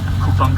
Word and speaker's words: Kupang: Alright, so this is Kupang station, what I like is that its name sounds punny, as it sounds like the word "coupon".